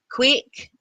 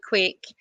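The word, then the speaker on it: quaich: adults too um and we use uh quake as scottish quake it's a silver bull it's a gaelic word we spell it q-u-a-i-c-h it's just a silver bow it's called a quake and it says traditional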